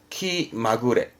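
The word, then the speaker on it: 気まぐれ: 그러면 앞에 기가 붙었죠 이때 발음은 좀 달라요 키 마구레 원래 또 마구레로라고 마구레로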